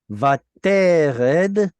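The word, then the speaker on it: וַתֵּרֶד: Vatered, penultimate Vatered. stress right there.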